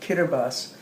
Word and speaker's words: Kiribati: spelled k-i-r-i-b-a-t-i Kiribati but they pronounce t as s and so they pronounce it kiribus which in the old